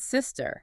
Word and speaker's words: sister: But sister requires a completely different airflow. Yeah. It is all about the S sound. The tongue stays behind the teeth and the air hisses. Sister. Sister.